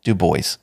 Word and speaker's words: Du Bois: Du Bois, and Martin Luther King Jr., has also been a warrior for freedom of expression." And yes, his name is pronounced Du Bois, so don't give me any shit about that one, guys.